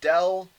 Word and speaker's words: del: operator right it's called a differential operator it's pronounced as del alright and it looks like this upside down